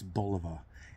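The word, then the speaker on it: Bulova: 60s and 70s and you'll hear the pronunciation um it's Boliva and you know believe me I'm not the pronunciation police because I get things wrong all the time.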